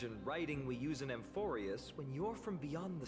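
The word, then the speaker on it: Amphoreus: Again, I mispronounce everything. Now that he said Amphorius, sometimes I just need to remind myself exactly how characters pronounce the words in game.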